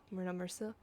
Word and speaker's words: Myrna Mercille: So yeah, I've even written down phonetically how it's supposed to sound. So character name Myrna Mercille, so Myrna Mercille.